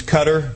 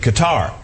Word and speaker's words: Qatar: and by the way I've heard both pronunciations cutter and Qatar but the service personnel there told me some of them had been there said they pronounced it guitar and besides that rind with guitar that's what I guitar guitar so I went with that hey don't forget there's